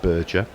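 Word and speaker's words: Berger: Luciana burger it and apparently is pronounced burger is projected to win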